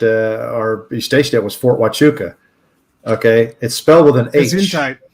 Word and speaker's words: Fort Huachuca: our station it was fort huachuca okay it's spelled with an eight it's spelled with an h but you pronounce it with a w sound but it's an indian